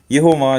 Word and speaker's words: Yehovah: Yehovah is correctly written when you have it like this. And remember the H at the end.